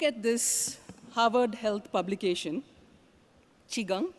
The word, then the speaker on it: Qigong: So if you look at this Harvard Health publication, Qigong, pronounced Qi, also in the West it's called, several people call it Chi Gung.